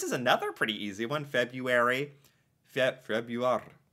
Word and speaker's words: Februar: Februar. Oh my gosh, every single word he ends with this ar, this roll.